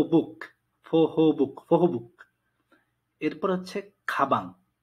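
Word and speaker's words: 가방: এরপর হচ্ছে খাবাং। প্রথম অক্ষরের পরে বিয়ফটা বসছে, তার উচ্চারণ হবে বয়ের মতো, খা বাং। খাপাং না, খা বাং।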